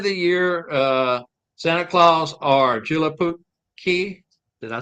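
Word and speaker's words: Joulupukki: Okay, any day of the year, Santa Claus or Julapuki. Did I say that right, Randy? I'm not sure. I can't pronounce it. It's JOLUPUKKI. So you pronounce it how you pronounce it.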